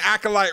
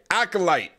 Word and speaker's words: acolyte: corrupting their spirit so I've been saying acolyte wrong just so you all know I know there have been people telling me in the comments like you're saying it wrong but okay acolyte acolyte got it okay we're good the